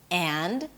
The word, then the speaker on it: and: So the a as in cat is reduced to a neutral sound, to the schwa.